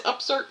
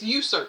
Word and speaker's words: usurp: It says upsert means usurp. Am I saying it right? Oh, it's usurp. I'm sorry, y'all. Usurp.